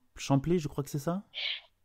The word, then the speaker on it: Champlay: plantes Colombiers vert à champlé je crois que c'est ça oui alors quand on est de Lyonne on dit chanl on prononce pas le P ah mince alors ah